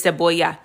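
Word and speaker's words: cebolla: But also um just a correction there, it is seaboya.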